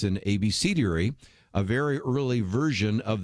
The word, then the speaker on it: abecedary: Now, you might say, what's an abecedary? Or abecedary, I've heard it pronounced that way as well.